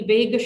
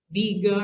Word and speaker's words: Vega: hunted by hercules incidentally vegas should be pronounced viega or vega or wiga or something i'll never get used